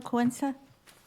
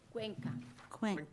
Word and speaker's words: Cuenca: Did I pronounce that right, Bella Quinza? Or is it Quinza? It's Cuenca.